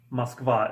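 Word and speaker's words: Москва: it is pronounced Muscovado and it's written like this so Moskva and the stress is on the last syllable so to say he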